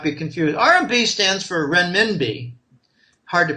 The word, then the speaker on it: renminbi: RMB stands for renminbi. Hard to pronounce.